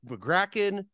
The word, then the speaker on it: Magraken: supposed to be pronounced it's an Estonian name I don't speak Estonian but people that do pronounce it the third way that you did oh